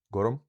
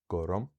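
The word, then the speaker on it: gorm: from the pronunciation, again, the exact sound of this small unstressed vowel depends on whether the consonants are broad as in gorum, so you get a schwa there, gorum, or slender, so you get an i there in ainm.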